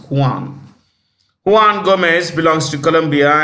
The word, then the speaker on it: Juan: it's director General is Johan Carlos Gomez you simply write Johan Gomez he belongs to Colombia you want Gomez Juan that's how they pronounce Juan Juan Gomez belongs to